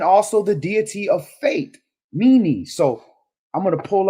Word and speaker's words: Meni: We go back to where it said unto that number H4507 you have Meni. M E N E M E N I Y Meni.